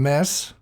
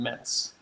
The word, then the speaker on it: Metz: And is that how you spell that city name, Mess? If you're French, you say mess. In German, it'd be Metz.